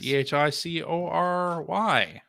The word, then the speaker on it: Chicory: Chicory, Okay. like hickory.